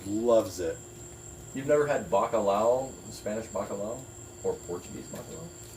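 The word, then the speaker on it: bacalhau: Bacalao is the Spanish word for cod, but also in Portuguese, bacalao is the Portuguese word for cod, which is spelled differently, but Ah. pronounced fundamentally the same.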